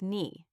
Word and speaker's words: knee: The next word was knee. I read it. Knee. But in my listening exercise, the voice said again. The K was silent.